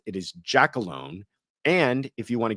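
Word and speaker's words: Giacalone: is I have been pronouncing the porn man's name wrong all this time. I always called him Gia Colalone. It is not. It is Jackalone.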